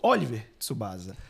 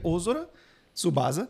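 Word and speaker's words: Ōzora Tsubasa: deve ter crescido escutando Oliver Tsubasa, né? E não é Oliver. Aqui, aqui a gente trata o material original, o nome dele é Ôzora Tsubasa.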